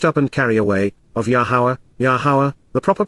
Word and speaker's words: Yahowah: NASA to lift up and carry away of yahuwah yahuwah the proper pronunciation of yahuwah our lower God as directed